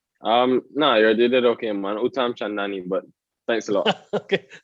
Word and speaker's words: Uttamchandani: I haven't butchered your surname, have I? No, you did okay, man. Uttamchandani, but thanks a lot.